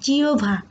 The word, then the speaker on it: জিহ্বা: এমন হতে পারে যেমন জিওভা, এখানে আমরা জিহ্বা বলি, অনেকে উচ্চারণটা ভুল, এটার উচ্চারণ হবে জিওভা, কারণ ওখানে হচ্ছে হ বর্ষণযুক্ত, তাই তার উচ্চারণ জিওভা বা হচ্ছে আমরা জিওভা যেটাই উচ্চারণ করি না কেন।